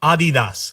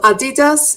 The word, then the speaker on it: Adidas: Um, Americans say Adidas. No. No. Like Adidas. Adidas. Adidas. Sorry. They say I had an accent. I don't know what I was doing. We say Adidas. Yes. Germans, they don't stress the syllable, so it's Adidas.